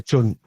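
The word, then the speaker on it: Can: I don't speak any Turkish Chun. Oh, yeah. Emir Chun. Yeah, even though there's no U. Yeah, even though there's no U in it.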